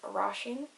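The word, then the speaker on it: Róisín: i with the father um her name is rasheen you know who you are girl her name is spelt or o i s i father n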